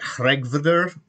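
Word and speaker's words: Hreggviður: as humanly possible and it sounds like regvder to me and i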